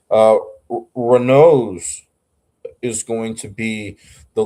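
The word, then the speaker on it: Raynaud: Whenever I looked at that pronunciation thing, he pronounces it like Reno.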